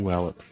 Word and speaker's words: Puyallup: Yeah, Working on pronouncing that right. From Palau. You gotta keep doing Playing with Washington. Puyallup. Thank you. Puyallup.